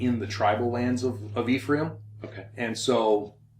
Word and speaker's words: Ephraim: Yeah, the more I told Gary, the more I travel internationally, the more I hate the way Americans pronounce some of these names. The Hebrew is Ephraim.